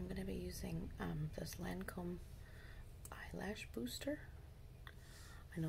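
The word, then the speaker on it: Lancôme: Okay, so I'm going to be using this Lancome Eyelash Booster.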